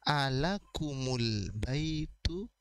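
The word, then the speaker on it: أَلَكُمُ الْبَيْتُ: Jadi kita membaca mim pertama sebagai alakumul baitu. Alakumul baitu. Mim itu mengambil dammah.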